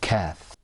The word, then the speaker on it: ك: We've got the qaf and we've got the kath. Okay? When you pronounce the kath, you pull the corners of your mouth back. You go like this.